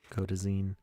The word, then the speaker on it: Kodazine: Oh, Lawson says zine rhymes with scene, so yes, I got it. Kodazine.